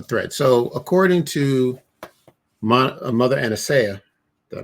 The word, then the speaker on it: Aniseya: How do you pronounce this? Aniseya.